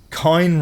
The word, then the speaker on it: Kine: Kine rhymes with line.